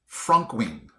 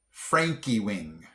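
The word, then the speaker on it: Frankewing: I think I would have pronounced this Frankwing, but it's actually Frankie Wing.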